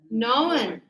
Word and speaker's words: known: No new known. See the K is silent.